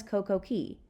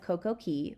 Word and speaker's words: CocoCay: to its completion it was simply known as CoCo Key however the extensive Renovations required a new name hence perfect day was added and the pronunciation of CoCo Key was changed to Coco K to rhyme with